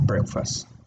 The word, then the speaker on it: breakfast: you can say have breakfast eat or have breakfast then the pronunciation is it breakfast do you remember the schwa sound yeah this one this